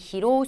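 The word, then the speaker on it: 披露: 하나 주의하셔야 될 거는 이을 로자가 원래는로 짧게 읽혀요 근데이 경우에는 로우라고 길게 읽히는 걸 한번 또 체크를 해 주셔야 돼요 그래서이 히로우 스루가 무슨 뜻이냐면 바로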